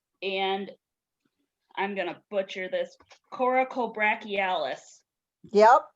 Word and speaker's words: coracobrachialis: So you've got the clavicle head, anterior deltoid, and I'm gonna butcher this, coracobrachialis. Yep, coracobrachialis.